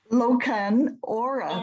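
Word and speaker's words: Lochan Ora: there really such a scotch called lokton hora loken aura that's right that's funny i'll have to look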